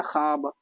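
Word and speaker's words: خواب: खाब यानी कि व मादुला उसको कहेंगे जिसको जो वाव को जो हम लोग नहीं पढ़ते हैं एक तरह से मानिए थोड़ा सा साइलेंट करके पढ़ते हैं ना खाब वाव को नहीं पढ़ते मादुला होता है मारूफ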